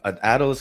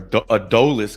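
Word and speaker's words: Adolis: also have guys like adelus Garcia or adus Garcia I guess it depends on what part of the country you're in how you say his name Alise Garcia going under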